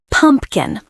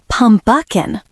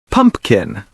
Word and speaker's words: pumpkin: Many learners add an extra sound. Keep it simple. Pumpkin. 2 beats. Not pumpuckin. Pumpkin.